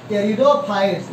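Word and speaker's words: Pteridophytes: इसका एग्जांपल क्या है, टेरिडोफाइट्स, ये पी साइलेंट रहता है, ठीक है, पी को नहीं पढ़ना है लेकिन लिखना है।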